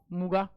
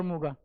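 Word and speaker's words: Muga: है री व मुगा री और मुगा मोस्ट यही स्पेलिंग है री एंड मगा इट नॉट मुंगा ठीक कहीं कहीं इसको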